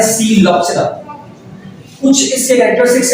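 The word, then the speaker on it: Psilopsida: P silent है और इसे कहा जाता है सीलोप्सिरा।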